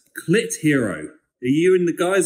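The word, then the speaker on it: Clitheroe: It's C-L-I-T-H-E-R-O-E.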